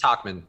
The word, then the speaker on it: Tauchman: I think it's Tauchman, because I think Michael Kay, the announcer who has the annoying home run calls, has some sort of TikTokman thing because it's like a clock.